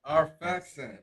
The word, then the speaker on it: Arphaxad: Arphaxad.